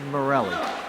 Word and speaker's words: Morley: Shoveled forward, Morley sends it up to, well, it's spelled Morley, but I'm told it's said Morelli.